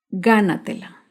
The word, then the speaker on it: gánatela: Gánatela se acentúa en la sílaba anterior a la antepenúltima sílaba. Gánatela.